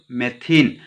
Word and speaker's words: मेथीन: अब इसका जो प्रोनाउंसिएशन कैसे होगा, तो देखिए प्रोनाउंसिएशन इसका ऐसे होगा, meth plus in equal to मेथीन।